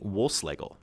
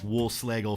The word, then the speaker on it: Wohlschlegel: it and without further ado here is Wolfe Slagel thank you so much wolf slagle for joining me today thanks great great to